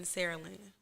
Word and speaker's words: Saraland: new office in Spanish Fort in Saraland. Thank you, Sarah Lamb. I was like, dang, did I say that right? Because last night y'all corrected me. Yeah, you said it right.